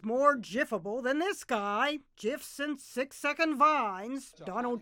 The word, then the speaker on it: GIF: to pronounce the word the inventor says it should be Jif not GIF gif as in the peanut butter I was turned into